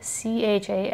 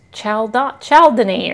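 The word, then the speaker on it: chalcedony: I was like, it's Chaldane or whatever. And some lady was like, it's pronounced Caldone.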